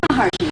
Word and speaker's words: Maharishi: So, of course, also with the Maharshi, what's the correct pronunciation? Maharshi. Maharishi, okay.